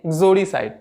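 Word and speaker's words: uxoricide: एक्सोरिसाइड, एक्सोरिसाइड, actually इसको उग्जोरीसाइड नहीं पढ़ेंगे, क्या पढ़ेंगे? उग्जोरीसाइड। ओ का हल्का सा प्रोनाउंस करेंगे, उग्जोरीसाइड।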